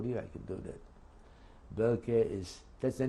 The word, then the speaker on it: Boelcke: We were sent to a German barracks, former German army barracks, called Welke Kaserne. If you want me to spell it for you, I can do that. Welke is, that's the name of the barracks, BOELCKE dash Kaserne, which means barracks, KASERNE.